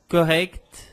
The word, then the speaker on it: correct: Por exemplo, palavras como correct, exact, eu preciso pronunciar esse kt, kt.